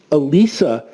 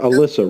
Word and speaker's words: Elisa: you know and you know Elisa's name is Elisa not Alyssa right you know that you know that Elisa